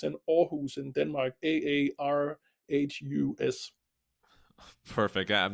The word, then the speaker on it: Aarhus: It's in Aarhus in Denmark, Aarhus. Perfect. I'm not even going to try to pronounce it because you have it nailed.